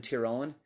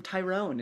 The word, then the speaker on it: Tyrone: They were had settled in Tyrone. Is that how you say it? Yep. Tyrone, or because when I first started saying it, go ahead. Yeah, like Tyrone, yeah. Like Tur, instead of Ty, it's Tur.